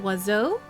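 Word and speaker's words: oiseau: say Lich it's like the French word for bird which is pronounced wazo but has every vowel in it my Fela is Baka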